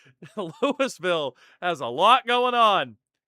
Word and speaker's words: Louisville: They pronounce it Lewisville. No, we're not like that town in Kentucky. They're Louisville. We're Lewisville.